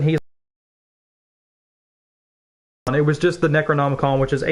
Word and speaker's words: Necronomicon: that experience and we're like how do you pronounce it mr jeffco and he's like necronomicon and he stands up and leaves the room